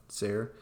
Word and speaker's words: Tser: It's spelled Tser, Sayre.